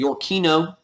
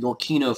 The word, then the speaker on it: Yorkino: One faction, you can put in your notes, is going to be called the Yorkino. Yorkino, like York Right, Y-O-R-K-I-N-O, the Yorkino Federalists.